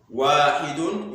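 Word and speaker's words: واحد: So we said 1 is pronounced as wahidun in Arabic language.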